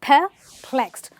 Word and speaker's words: perplexed: The pronunciation is perplexed, not per, but perplexed.